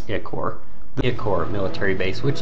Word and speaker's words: Ichor: game I pronounced it iccor and then the second playthrough I pronounced it i-core but honestly I have kind of gone back to calling it iccor The Accord military base